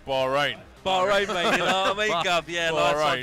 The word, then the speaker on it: Bahrain: Arabia Kuwait uh Qatar Bahrain uh UAE and ran and is that how you say bahin bahin yeah always said bahin bahin you know mean